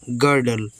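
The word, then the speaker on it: girdle: अदरक जी आई देखि यहां पर जी आई है तो ग बनेगा आर से रा गर और डी से ड एल ई से ल गडल गडल का मतलब है कमर बंद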